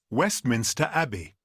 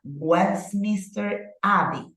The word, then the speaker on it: Westminster Abbey: Westminster Abbey. Okay, so Monica, what about the first word? Westminster. Correct. Westminster. A. Correct. We have Westminster Abbey, right?